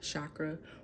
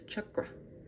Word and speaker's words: chakra: because it resonates with the bottom root chakra just in case y'all didn't know even though chakra chakra is spelled the way that it's spelled it's not chakra or chakra it is chakra chakra chakra chakra yeah yeah I just talked